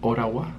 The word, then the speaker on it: Ottawa: Estoy en Ottawa, que por lo visto se pronuncia Oragua. Que si lo quieres pronunciar Oragua, o sea, ¿por qué no lo llamas Oragua en lugar de Ottawa? No sé por qué pones dos T's si no vas a pronunciar ninguna de ellas.